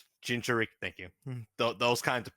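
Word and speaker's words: Jinchūriki: I'm not pronouncing that fucking name. Jinchuriki. Jinchuriki, thank you.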